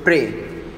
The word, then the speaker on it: prey: So Though the pronunciation is same, the meaning is different.